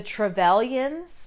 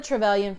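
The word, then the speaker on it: Trevelyan: a human um so the travelan I think is how you pronounce uh their name they're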